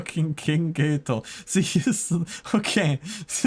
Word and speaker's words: Geto: Why are you pronouncing his name Geto? Cuz that's how they pronounced it in the sub. Oh yeah. Wait. it was very funny that they pronounce him like gay toe. Like toe on a foot and gay like the sexuality.